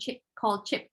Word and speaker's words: Chipotle: working there with a Mexican food chain called Chipotle, is how you pronounce it.